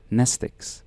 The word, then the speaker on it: mnestic: be impossible to remember nestic class WX Y and Zed same Greek root as the word pneumonic the m is silent in her bag her